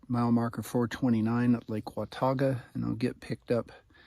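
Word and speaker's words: Watauga: can't get pronunciations right that is the correct pronunciation is Wata not watuga I used to go to appstate graduated from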